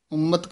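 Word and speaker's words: ਉਮਤਿ: दर सेवे उम्मत खड़ी उम्मत कस के बोलना है मस्कल हुए जंगली दर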